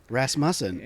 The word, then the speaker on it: Rasmussen: for Ras um but yeah the correct pronunciation is rasm rasmon oh my God nobody says it right then